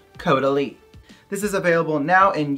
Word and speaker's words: Caudalie: Yes, it's pronounced Caudalie.